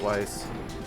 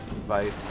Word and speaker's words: Weiss: Fuck, you said it, Weiss. Vice, excuse me. Gotta make sure I pronounce that right.